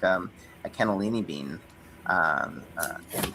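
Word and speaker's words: cannellini: because they say they say the N that it's double N and double L and in um contrary to how we say double letters they pronounce each single one like we say tennis and they say tenness it's pretty it's pretty funny and they when I say tennis it's like well you're wasting a letter and I'm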